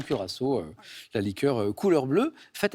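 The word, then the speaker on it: Curaçao: non encore courao C curassau j'aime bien votre prononciation je valide bien sûr ça c'est ça s'écrit cur ch littéralement on dit souvent curassau la liqueur couleur bleue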